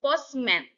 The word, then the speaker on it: postman: Compound words is postman. Stress on the first syllable.